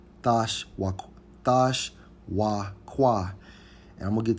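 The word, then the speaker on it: תְּשׁוּקָה: Hey, and when we go into the Hebrew term for desire in Genesis 3:16, it's Strong's H 8669, pronounced as Thash Wakwa. Thash Wakwa.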